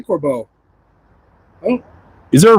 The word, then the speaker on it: Corbeau: Let's talk about the Recaro or the Corbos, though. How do you say? Do you say Corbu or do you say Corbo? I say Corbeau.